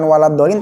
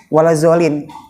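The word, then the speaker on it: ولا الضالين: Terus pas lagi Fatihah bacanya begitu, bukan waladdallin tapi walazzallin, batal ya, batal, nggak dimaaf, batal kalau diterusin terus, batal.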